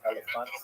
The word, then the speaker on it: Elephantine: I always pronounce that, by the way, Elephantine. I looked a little more carefully. It's supposed to be pronounced Elephantine.